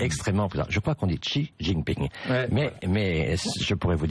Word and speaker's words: Xi Jinping: Je crois qu'on dit Xi Jinping.